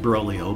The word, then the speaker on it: Broglio: Brolio, I would pronounce it Brolio, but it's BROGLIO.